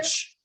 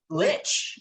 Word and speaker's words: lich: So what I've got is that you have, is it pronounced a like or a lick? This is a monster? Lich. Lich.